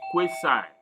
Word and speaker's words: quasi: experiments at the US the pronunciation is quayside but here we want to call it quasi experiment and there are